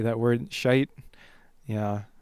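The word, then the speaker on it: Schytte: there's one by a composer named Ludwig Ludwig shite that's spelled s c h y t t e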